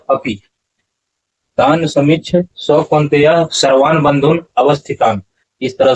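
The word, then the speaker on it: बन्धूनवस्थितान्: तान समीक्ष सौते सर्वान बंधुन वस्थितान सर्वान बंधुन वस्थितान ऐसा उच्चारण नहीं होगा उच्चारण होगा सर्वान बंधुन अवस्थितान यहां पर देखिए सर्वान बंधुन अवस्थितान ऐसा उच्चारण और इस तरह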